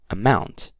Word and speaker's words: amount: and then we have amount amount the stress is on the word mount okay that out okay